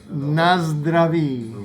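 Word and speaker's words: Na zdraví: How do you say cheers in Nazdraví.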